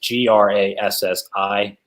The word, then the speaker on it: Grassi: Despite the spelling of the name, it's Grassi, and it's pronounced Grassi.